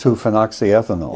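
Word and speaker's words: 2-phenoxyethanol: How do you pronounce? Two phoxy ethanol.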